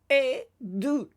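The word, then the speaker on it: עדות: Remembering that the vav is not pronounced here. Rather, we pronounce the sound that the gesh makes in it. Then we have an aleph mem, tav, and it is edut, meaning testimony.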